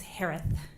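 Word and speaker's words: Herath: Last name is pronounced like Harris with a lisp. It's Harith.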